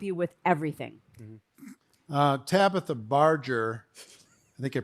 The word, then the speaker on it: Barger: last name is mispronounced it sounds like it is spelled barge like the boat with the er pronunciation which you could put